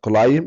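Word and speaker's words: climb: يستطيع كلايم ان يتسلقها وخلي بالك ان كلمه كلايم البي هنا سايلنت ما نقولش كلايم غلط ك في يوم من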